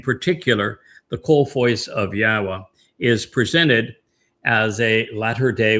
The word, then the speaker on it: Yahweh: And ha tells us how to pronounce the y, the yod, and the two hays in Yahweh's name. It's hi ya.